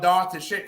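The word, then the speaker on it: Dhar Tichitt: And by the way, I didn't tell y'all Dar to shit because I'm going to show y'all because it's unknown. And yes, that's how it's pronounced, y'all.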